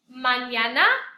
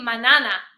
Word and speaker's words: mañana: Mañana, which is tomorrow, it's all A's. Mañana. Remember the N with the squiggly or the tilde is a ñ sound. Without it, it would just be manana.